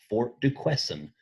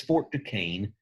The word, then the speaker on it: Fort Duquesne: completed called Fort Duquesne I know to English speakers like myself monolinguist this looks like Fort De question if that helps you spell it that's fine but it's Fort Ducane and um and this